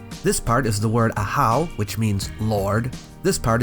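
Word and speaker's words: ajaw: to the glyph this part is the word a-hou which means Lord this part is the word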